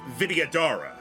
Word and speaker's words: Vidyadhara: Best way I would say to pronounce it is Vidya Dahara. The H is either silent or barely there, is just breath. So Vidyadhara.